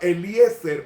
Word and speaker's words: Eliezer: Que se pronuncia Eliezer en hebreo.